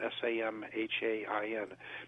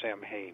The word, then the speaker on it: Samhain: It's spelled S-A-M-H-A-I-N, but it is not pronounced Samhain. It's pronounced Samhain.